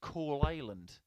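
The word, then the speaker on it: Coalisland: northern irish young start i do believe you pronounce his hometown as coal island 100 it sounds almost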